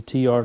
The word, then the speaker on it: TLYARD: There's the T-Yard logo there. It's T-L-Y-A-R-D, but pronounced T-Yard.